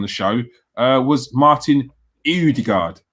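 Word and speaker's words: Ødegaard: show uh was martin eudegard is that pronounced right here the gourd oh the guard earthguard the gourd you know yes that's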